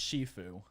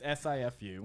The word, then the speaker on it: Sifu: I think that's pronounced Shifu. All right. It's SIFU.